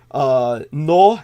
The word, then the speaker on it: Knoh: So one of the doctors' name was KNOH. Noh, and the other Mueller was a U spelled with an umlaut, of course.